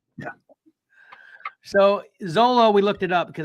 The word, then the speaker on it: Xolo: Xolo is his first name. Zolo.